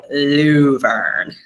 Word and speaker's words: Luverne: Well, not really a bet, but is it pronounced Laverne or Luverne? Okay, so I say Laverne. Most people that grew up there do say Luverne.